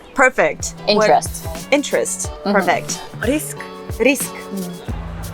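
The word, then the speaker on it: риск: Risk. Risk. Rick.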